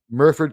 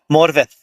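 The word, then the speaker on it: Morfydd: No, no one pronounces her name correctly. Murford Clark. Morith.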